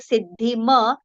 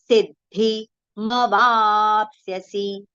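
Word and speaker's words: सिद्धिमवाप्स्यसि: So if we take siddhi ma, then you may tend to recite siddhim, which will be wrong. Ma is complete. So kurvan siddhi ma vapsyasi. Okay. So ma should be heard as a complete pronunciation.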